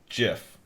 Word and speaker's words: GIF: um it says that the pronunciation with a hard g is now very widespread and readily understood so i don't think